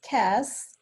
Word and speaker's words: CaaS: of how do you how do you pronounce it is it SAS or Cass CAS we call it it's Cass ok ok yeah so